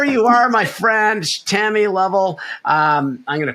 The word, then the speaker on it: Lovell: Is it under Tammy Lowell? It's under Tammy Lovell. Yes. Lovell. So sorry, I've got your name wrong.